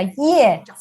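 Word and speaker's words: 叶: Y luego cuando se forman hojas, en este carácter que se pronuncia ye, también tiene este carácter, tiene este radical que significa hierba.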